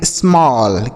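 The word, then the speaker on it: small: एस एम E double L, इसे पढ़ेंगे स्मॉल।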